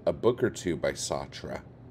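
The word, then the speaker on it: Sartre: book or two by satra um yeah and and like I think sart is like that is a correct-ish way I've heard it pronounced I still think satra is like probably the best way to do it it's probably not right let's see Knute hamson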